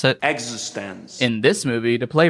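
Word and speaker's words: eXistenZ: Yes, that is how you pronounce it. Existence.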